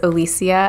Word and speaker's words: O'Licia: so my name is alicia a really cool way i hope people remember how to pronounce my name if you know spanish at all it rhymes with policia i work for police